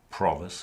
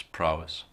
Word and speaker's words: prowess: I really like expression provess in English the dullest waters have their depth I'm not sure this is a thing also yeah also it's prow what it's prowess oh did I mispronounce